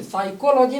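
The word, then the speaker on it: psychology: लेकिन साइकोलॉजी मनोविज्ञान का अध्ययन। साइकोलॉजी में आप पहले एस नहीं पहले पी आता है, पी साइलेंट हो जाता है।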